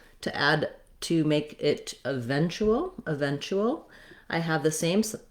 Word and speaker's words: eventual: eventual so my letter u and my t together say the ch sound and an oo sound like the word chu eventu and then i just have a dark l at the end that has a little bit of a schwa sound before it so we can see the schwa and the l eventual eventual then finally eventually i'll